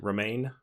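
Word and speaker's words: Romijn: Romaine? Yeah. Okay, like the lettuce.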